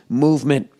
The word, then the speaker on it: MVMT: more to go oh mvmt movement watches pronounced movement was founded on the